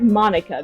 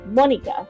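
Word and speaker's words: Monika: A lot of the west side, we pronounce it as Monica because that's how we see it. But in actual Japan, it's pronounced Monica because it's pronounced like squid.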